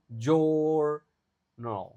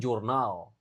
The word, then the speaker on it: journal: J journal. Itu jadi a yang kedua dibaca a-nya di sini dibaca e journal bukan jurnal.